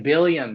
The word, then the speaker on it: Billiam: It looks like a William with a Bill. Oh, it's like Billiam.